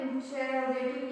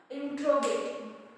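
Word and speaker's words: interrogative: Next हम बात करते हैं इंटरोगेटिव या इंट्रोगेटिव। इट्स नॉट इंटेरोगेटिव, इट्स इंट्रोगेटिव pronounce.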